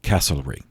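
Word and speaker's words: Castlereagh: s-t-e-w-a-r-t uh but he's better known by his title uh the vi count casselry c-a-s-t-l-e r-e-a-g-h lived from 1769 until 1822. now england have been enemies with france for centuries uh and casselry shared metternich's fear of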